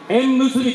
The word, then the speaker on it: 笑結: 私たちの連は笑って結ぶと書いて縁結びと呼びます。